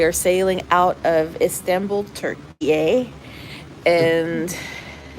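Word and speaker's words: Türkiye: sailing out of Istanbul Turkey and that's the hell it's supposed to be pronounced turkey a who knew who knew turkey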